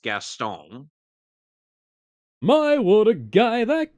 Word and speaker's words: Gaston: correctly which is so much interesting because everybody pronounces as Gaston but it's pronounced gastone my would a guy that g he sounds